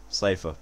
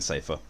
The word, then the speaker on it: Seifer: prepared right oh hey the first person i know who pronounces safe is the name the same way i do yeah it's always it's always seemed like safer to me s-e-i-f-e-i comes up as